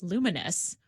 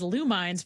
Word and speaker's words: Lumines: I discovered I don't know how to say this game properly. Luminous, which I've been saying is Lumines for like 10 years.